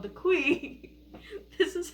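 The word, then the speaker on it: khui: planet is through a symbiotic parasite called the qui. This is how it's spelled. And yes, they did confirm it is pronounced qui.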